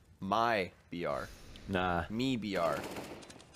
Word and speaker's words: MIBR: like my BR nah me BR me BR me BR you pronounce the Mi and then the BR for Brazil it's like a sounds